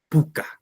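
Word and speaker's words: puka: Mira, son palabras graves, y una palabra grave tiene el mayor sonido en la penúltima sílaba. Guagua, guasi, ñaui, puca.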